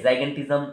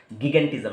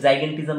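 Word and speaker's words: gigantism: जाइगेंटिज्म ऐसे भी कोई कोई लोग प्रोनाउंस करते हैं, या कोई लोग गिगेंटिज्म ऐसे भी प्रोनाउंस करते हैं, तो जाइगेंटिज्म बोलना मोस्ट सुइटेबल रहेगा, क्योंकि जाइंट, जाइगेंटिज्म कहाँ से आया, जाइंट, जाइंट से आया।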